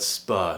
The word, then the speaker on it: spur: Firstly, take a look at the word spur. Now in British English, when a word ends, or let's say RP British English, when a word ends with a letter R, we don't pronounce it.